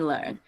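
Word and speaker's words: Leung: i think i'm there learning with a g on the end learn learn thank you thank you l-e-r-n-g is kind of pronounced okay so tony learn um so uh when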